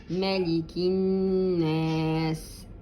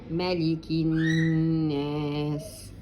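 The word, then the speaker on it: مَلِكِ النَّاسِ: Malikin Nas, as we said it before. Give it two periods for the noon, two periods for the alif, omit the lam. Malikin Nas.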